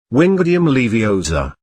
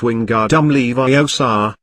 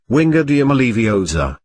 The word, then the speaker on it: Wingardium Leviosa: "Wingardium Leviosa!" he shouted, waving his wand frantically. "You're saying it wrong," Hormone said snobbishly. "It's Wingardium Leviosa, you have to pronounce each syllable distantly."